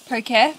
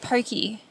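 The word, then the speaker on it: Poké: felt like I deserved Pocare because... Also, I've been saying it wrong. I did post about this on my TikTok. I was calling it Pokey.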